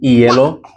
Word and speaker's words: hielo: And then H, as we mentioned, is silent. Hielo, historia.